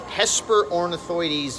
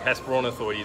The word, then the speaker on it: Hesperornithoides: Get the pronunciation right now. Hesperornithoides miessleri. That's correct. Hesperornithoides miessleri.